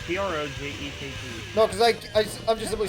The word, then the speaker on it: Projekt: It's PROJEKT. No, because I'm just simply saying I keep hearing people pronounce it Project.